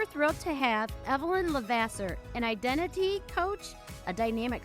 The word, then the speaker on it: LeVasseur: We are excited to introduce our friend Evelyn Levasseur. Did I pronounce it correctly, Evelyn?